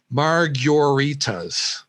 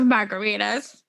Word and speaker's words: margarita: serves three dollar and i have to say this the way cliff says it marguritas hungary and a three dollar picture of margaritas right but he says it like it's and i'll spell it the way he says it is m a r g y o u r i t a s marg urritas i'm like i've never heard it enunciated that way before and i